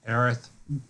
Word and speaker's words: Aerith: him and, I always fuck up her name, Aerith. Is that how it's pronounced? Yeah, okay, Aerith. Different people pronounce it different ways.